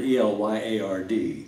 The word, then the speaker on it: Elyard: Well, I've got a middle name that I've never heard before since Elyard, E-L-Y-A-R-D. How do you pronounce it?